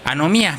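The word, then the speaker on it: ἀνομία: Y la palabra injusticia en el original dice o se pronuncia anomía, que es una palabra griega que viene en la concordancia Strong número 458, G458, que es iniquidad.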